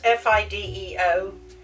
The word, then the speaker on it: Fideo: So we're going to have this Fideo. Sounds like I'm, I don't know. How do you pronounce F-I-D-E-O?